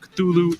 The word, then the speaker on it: Cthulhu: should be noted that Lovecraft originally intended the name to be pronounced closer to because it originates in an alien language that can't be properly spoken by humans however the easier form Cthulhu is more prevalent so that's